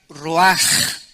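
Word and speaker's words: רוח: vientos es la palabra hebrea Roach qué se pronuncia raj la ch en el hebreo se pronuncia como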